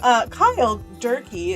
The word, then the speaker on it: Cyle Durkee: Cyle Durkee, is that a correct pronunciation?